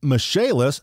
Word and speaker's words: Michaelis: for the michalis corporation pronounced michalis spelled Michael is get it Michael is they are fullservice general